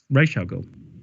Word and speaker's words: Ra's al Ghul: so what is it Ra's al Ghul is Rachel girl according to denny o'neil the person that first